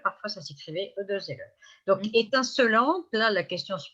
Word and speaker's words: étincelante: Donc, étincelante, là, la question ne se pose pas puisque c'est un seul L et on prononce selante.